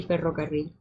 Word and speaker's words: ferrocarril: I mean, it's like also like rolling your R's. My mom can't roll her R's, so she can't say ferrocarril.